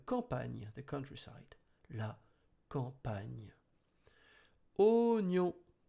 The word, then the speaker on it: oignon: Oignon. You can see O plus I. It should have been wa, but the I is silent, so it's O.